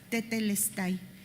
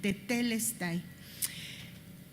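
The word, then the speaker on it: τετέλεσται: palabra consumado es tetelest con t las dos con t de tomás tetelestai. Acento en la segunda e tetelestay.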